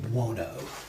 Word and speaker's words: Buono: Uh Dwayne Buono.